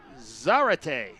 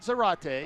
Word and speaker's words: Zarate: tackle real quick Justin I mispronounced the center's name Jorge Zarate okay not Zarate okay which rhymes with karate right it's Zar Zar there you go I feel better now